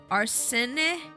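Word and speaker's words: Arsène: It's pronounced Arsene.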